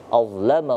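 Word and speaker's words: أَظْلَمَ: Nah, ini perlu diperhatikan ketika huruf za diwaqafkan atau disukunkan, maka kita harus membeli perbedaan antara huruf za yang sukun sama huruf zai atau zal. Maka cara membacanya adalah azlama, azlama.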